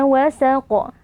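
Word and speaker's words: وَسَقَ: panjang dua harakat W wasaqo huruf q terakhir ini merupakan bacaan Qalqalah kubra karena ada Q yang kita waakafkan atau kita sukunkan saat waqaf nah cara membacanya dengan kita berikan pantulan suara yang agak kuat pada huruf qaf ini wasaqo ayat ke-18 walqomari idattasaq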